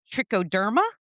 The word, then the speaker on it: Trichoderma: Then there's Exhibit C, trichoderma, I believe it's pronounced.